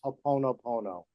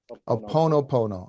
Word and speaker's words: Ho'oponopono: I learned it as Ho'oponopono. Ho'oponopono.